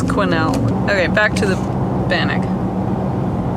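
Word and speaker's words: Quesnel: little town of Quinnell it's not pronounced question could be it's Quinnell okay back to the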